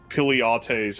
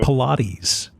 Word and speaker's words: Pilates: Piliates house. Piliates? Wait, what's it? How'd you pronounce it? You pronounce it different than I do. Pilates. Pilates! Hey, got them Pilates.